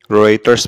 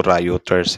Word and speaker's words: Reuters: sa Taiwan straight matapos ritters pala yyung pagbigkas n Akala ko routers e or reuters ritter